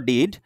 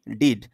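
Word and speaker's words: dead: রকম বিড ডিড আর এইটার উচ্চারণ কি ডেড ওকে সেটাই বলেছে যে ডেড এটার উচ্চারণ বেডের মত বেডের মত কিন্তু বানানটা বিডের মত বাট উচ্চারণটা বিট করা যাবে না। আবার ভুলেও তোমার দোহাই লাগে তুমি কি এটাকে এই ডেটটাকে ভুলেও আবার কখনো আবার ডিড বলে ফেলো না।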